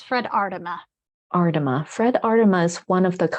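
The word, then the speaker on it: Aardema: Tell me how to pronounce Fred's last name, Bronwyn. It's Fred Ardema.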